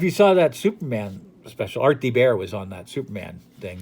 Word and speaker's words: Art Thibert: And Art Thibert. That's how it's pronounced, Art Thibert.